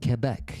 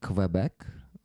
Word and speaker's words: Quebec: Um, it is pronounced Quebec. Yes. Without we just say Kbec in Ukrainian. We call it Kabbec. So there's like but kebec in French.